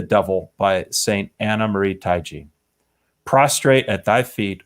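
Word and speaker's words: Taigi: what's the last name taiji uh yeah yeah it's not depends but yeah taiji's the typical pronunciation oh what uh she's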